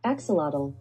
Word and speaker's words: axolotl: an axolotl i think i don't know how to say that i know i said it wrong in my first squishy makeover video and a lot of people were like no you said it wrong but i've been practicing axolotl axolotl axolotl axolotl axolotl axolotl i'll get there anyway so i'm coloring